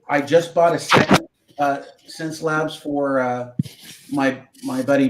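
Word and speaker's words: Xencelabs: than any cintique I've ever had is the sense Labs x c and it's about $300 Less in and it's a 4 okay spell that again I didn't CS it's x e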